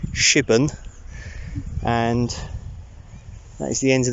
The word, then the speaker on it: Shipbourne: shitball which I've now found out is actually pronounced shipping and at the end of the video it's